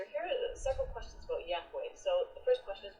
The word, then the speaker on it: Yahweh: Bible in the Bible only the four consonants are mentioned YH wh and Scholars now fill it out to say that Yahweh is the best pronunciation this is true now